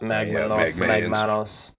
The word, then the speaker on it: Magmanos: It would definitely be Magmanos. Yeah, because Manos' hands is Spanish. Yep. Yeah. So it's a cross between magma and hands. Well, magma and hands. Magmanos.